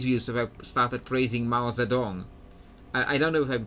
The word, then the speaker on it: Mao Zedong: If I started praising Mao Zedong. I don't know if I'm pronouncing it exactly correctly. Like in Polish, we call him Mao Tse-tung. That's how we say it in Polish, Mao Tse-tung.